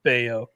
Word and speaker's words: Bello: It's like Scott Baio, right?